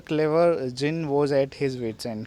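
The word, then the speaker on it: djinn: His wits and, कि जिन जो है वो भी परेशान हो गया। जिन देखो यहाँ पे DZINN। ठीक है, इसको हम बोलते हैं जिन। यहाँ पे डी जो है साइलेंट होता है।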